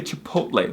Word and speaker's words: Chipotle: It's like when people say Chipotle, just say Chipotle. That's how it's pronounced.